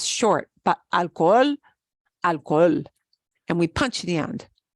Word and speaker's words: alcohol: a Spanish word so you know your English premium wants to say alcohol hall right but we need to pronounce that alcohol alcohol and we just draw out the oh because remember this is